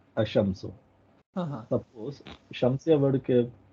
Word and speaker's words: الشمس: آ آف ال، ہاں اب ایک شمسیہ ورڈ میں ایل سائلنٹ ہے، اشمسو، ہاں سپوز شمسیہ ورڈ